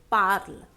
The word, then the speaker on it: parles: Next is tu parles. ES in place of ER. Tu parles. We pronounce it like parle.